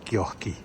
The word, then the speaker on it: kioski: Eh bien, pour parler finnois, il faut ajouter un « i » à la fin. C'est exactement comme ça partout. J'adore que le mot « kiosque » se prononce « kioski ».